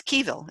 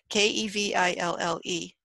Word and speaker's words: Keville: No, it's Keville is how you say her name. K-E-V-I-L-L-E.